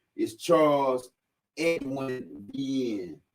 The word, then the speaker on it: Vienne: And I would hear my daddy pronounce his name, and he would say, V is in victory, I-E-N-N.